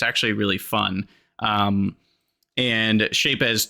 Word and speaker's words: Shapez: And I don't know if it's pronounced Shapez or Shapes, but it's got a Z on the end, and I like to pronounce the Z.